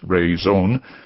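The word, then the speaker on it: Rhône: if the French company Ron pronounced rone meaning reason might one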